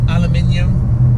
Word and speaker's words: aluminium: in this car were aluminium or as you americans say aluminum um that would be